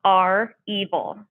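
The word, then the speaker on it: REvil: this attack was perpetrated by a group called our evil it's spelled r-e-v-i-l this is a ransomware gang out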